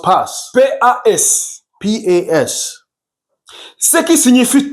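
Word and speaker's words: πᾶς: this word in Greek is pronounced pas.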